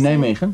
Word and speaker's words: Nijmegen: In Nijmegen, yes. Yes, am I saying it? Okay, good. Difficult pronunciation, right?